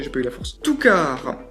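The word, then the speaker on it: Two Car: Toukar. Alors c'est pas une faute, c'est pas écrit Toukars que je prononce Toukar, non, c'est écrit Toukar, T-W-O espace C-A-R.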